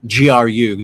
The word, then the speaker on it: GRU: I get to the group P. I'm like, I keep calling it group E as well. Apparently, it's GRU, division P, and that's just how you say it.